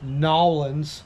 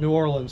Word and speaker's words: New Orleans: NAW-LINS. NAW-LINS. Yeah. Gotta make sure you say it right, because you'll get hung up by a tree if you start calling it New Orleans.